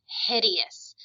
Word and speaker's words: hideous: word to read but it's got three syllables so we have hid and then e the letter e makes the e sound it follows no rules whatsoever and then us at the end hideous if something is hideous